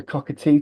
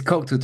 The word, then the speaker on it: Cocteau Twins: The Cockatoo twins. Nah, nowhere near it. No, It's it's Cocteau Twins. Cockatoo Jean, twins. That's it. named after. Actually, I'll not tell you the whole story, but the Cocteau Twins.